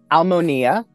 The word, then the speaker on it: Almonia: I was looking into almonia souls and Harmony ah amazing yeah tell me more about that uh um um almonia is actually how it's pronounced um and that means souls in harmony so um it is